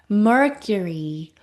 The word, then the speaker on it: Mercury: 우 하는 거 아니고요.큐큐 약한 어 소리 넣은 다음 마지막 단기는이 긴 소리까지요. Mercury Mercury 하고 읽습니다.